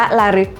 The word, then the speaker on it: ลฤก: ทั้ง หมด เลย ค่ะ ชื่อ อ่าน ว่า ระลึก ค่ะ แต่ ว่า จริง ๆ คำ ก็ ตรง ตัว เลย ฟ้อง เสียง กับ คำ ว่า ระลึก มัน คือ การ ระลึก